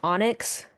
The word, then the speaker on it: EAUNEIGHX: And this weird name I invented in my dream, that's pronounced Onyx.